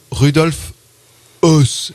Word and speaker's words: Rudolf Höss: Je te passe le nom de cette émission, puisque, alors apparemment, ça se prononcerait donc Rudolf Höss et non pas S comme nous l'avions fait.